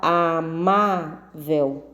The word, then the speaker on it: amável: Então, a palavra amável tem o quê? 3 sílabas. A sílaba tônica é o mar.